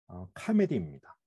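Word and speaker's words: comedy: 영어로 비극은 트래지디이고 희극은 카메디입니다. 우리는 보통 이것을 코미디라고 발음하면서 즐겁고 우스운 내용을 담은 연극이나 영화나 방송국을 일컬을 때 이 말을 사용합니다.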